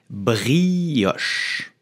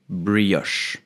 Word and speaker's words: brioche: it we will say brioche brioche I repeat brioche brioche so if you cannot say the air like the French do you can also say brioche it's not perfect but it's already good because French will always